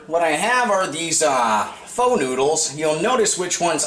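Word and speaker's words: phở: I think I pronounced that right, because the last time I called it pho, and then I got a bunch of people telling me I didn't pronounce the name of the dish correctly. Pho, yeah, that's the right pronunciation for it, P-H-O.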